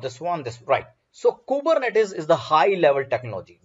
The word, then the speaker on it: Kubernetes: and number one thing it is being pronounced as kubernetes kubernetes right it's a it's a greek word which means husband that